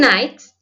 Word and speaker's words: knight: there at homes and nights and noons night means k is silent in the olden days